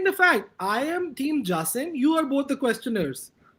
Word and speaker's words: Jasim: His name, how do you pronounce it? He's Jasim here.